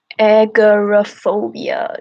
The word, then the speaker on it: agoraphobia: Agoraphobia, that's how you say it.